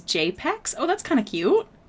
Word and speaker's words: JPEG BXS: My OG name was JPEG BXS, pronounced as JPEX.